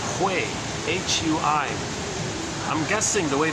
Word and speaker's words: Hui: I'm guessing the way to pronounce it is if you take the word who and then way, like who knows the way kind of thing, put the who and the way, blend it together, it's like Hui.